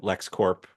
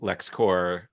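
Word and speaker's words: LexCorp: quick thing about Luther he pronounced his company Luther core meaning Co pronouncing CPS to me that at least for this show ends a longstanding discussion disagreement about if it's Le you Lex Corp or Lex core Lex so I thought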